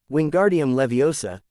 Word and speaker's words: Wingardium Leviosa: Wingardium Leviosa, dijo. Recuerd, énfasis en gar y levi. No en el final.